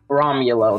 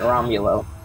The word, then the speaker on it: Romulo: Romulo, that's how you say it, Romulo.